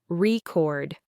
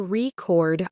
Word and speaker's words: record: official record of sales, the noun, with the stress on the first syllable, record. But as he stood up in front of his colleagues, his heart pounding, his mind went a little blank. He started speaking and he said, "Good morning. Today, I want to record our sales performance." He put the stress on the second syllable, turning the noun record into the verb record.